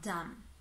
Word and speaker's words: dumb: Again, a small note here, pay attention to the final B in dumb, which is unvoiced, yeah? So don't pronounce that B sound. Don't say dumb, B, dumb, but dumb, yeah?